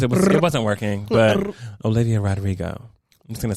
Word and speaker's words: Rodrigo: It wasn't working, but Olivia Rodrigo. I'm just gonna say it like that and just keep it stepping, because I tried to roll the R's and there was too many. They're too close together.